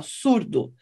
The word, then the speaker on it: zurdo: Tem uma palavra que em português escreve com S, surdo, em espanhol com Z, zurdo, mas a pronúncia é igual, surdo.